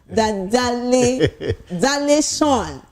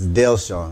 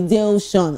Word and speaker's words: Dale Sean: I want to call this name Dal Dal Sean, right? Is that the right is that the correct pronunciation? No, it's Dale Sean. Okay. Dale Sean.